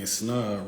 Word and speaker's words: Snod: Snod rhymes with odd.